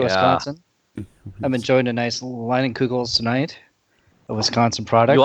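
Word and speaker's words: Leinenkugel's: Leinenkugels. Leinenkugels? How do you spell that?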